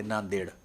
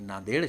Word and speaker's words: नांदेड: है क्योंकि वहां पर इंग्लिश में उसकी एन ए एन डी ई डी है तो यह देड है देड में डी और डी दो बार डी आया और दोनों का उच्चारण अलग-अलग है तो ऐसी विसंगतियां यह